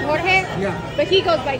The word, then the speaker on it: Jorge: Okay, so this is George. I mean, in the Spanish spelling, you pronounce it Jorge.